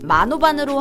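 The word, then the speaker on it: Manobal: 특히 성씨인 마노바는 마노발로 표기를 하기는 하지만 발음 자체는 마노반으로 한다고 하네요.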